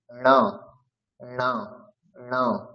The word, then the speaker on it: ণ: যেরকম ভাবে আমরা ম ঞ উচ্চারণ করেছি সেরকম ভাবে এখানে উচ্চারণ করতে হবে ণ ণ ণ। এটা উচ্চারণটা আমরা কিভাবে করব, এটা উচ্চারণ করার নিয়ম হচ্ছে জিহ্বা মূর্ধাকে স্পর্শ করবে।